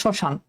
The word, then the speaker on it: শ্মশান: আবার দেখো শ্মশান, দেখো এখানে শুরুতে ম আছে কিন্তু উচ্চারণে কিন্তু ময়ের উচ্চারণ নাই।